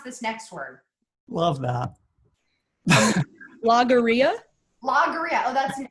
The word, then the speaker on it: logorrhea: you don't know okay Becca how do I pronounce this next word love that logorrhea logorrhea oh that's an L okay great cam